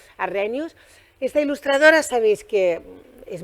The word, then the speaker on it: Arrhenius: edita a Ingela Arrhenius, que me corrigieron como lo decía, no lo pronunciaba bien, Arrhenius.